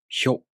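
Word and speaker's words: ひょ: To pronounce hyo, the tongue moves from the sh consonant to the o vowel. Hyo.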